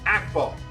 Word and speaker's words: Akbal: It's Akbal with a short A.